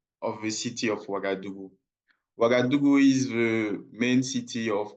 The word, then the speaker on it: Ouagadougou: Yes, Mohamed, we're talking about public health cooperative, modernizing the cleaning of the city of, can you pronounce the city, please? Ouagadougou.